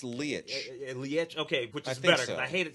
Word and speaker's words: Leitch: is David Leitch wrong I've been seeing letch I think it's Lee okay I hated saying